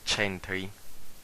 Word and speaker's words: centri: Letter K, before E or I, is pronounced like the English CH, chi, like centri, that means center.